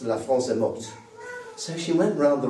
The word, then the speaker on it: morte: I said, "Well, actually, because it's feminine, you have to say, you have to pronounce the T. So, it's La France est morte."